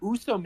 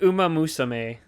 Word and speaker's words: Uma Musume: It's how do you say it? Usa Musume? It's like Uma Musume.